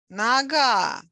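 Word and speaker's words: нога: syllable rookie naga noogie naga stress on the last syllable means leg no gear legs naga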